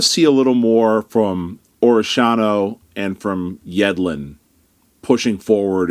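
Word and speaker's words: Orellano: Orishano, that still feels weird saying it that way, but I'm going to force myself to do it because it's the right way to say it.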